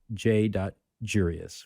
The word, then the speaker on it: j.jurious: and instagram at j.jurious sort of rhymes with curious but it's j dot jurious with a j and thanks again for